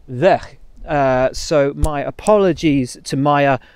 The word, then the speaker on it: Weug: It's spelled W-E-U-G, but as she's Dutch, it's not pronounced Weug. It is instead Weg.